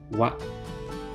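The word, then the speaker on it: は: Take note when the hiragana character ha is used as a topic indicating particle, it is pronounced as wa.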